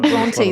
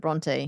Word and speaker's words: Bronte: It's actually Bronte though, isn't it? It's Bronte. She pronounces it Bronte.